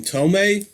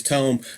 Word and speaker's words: Tome: their tone funny enough I always pronounce to Tom and uh I was corrected by one of the band members that it is Tome I haven't opened this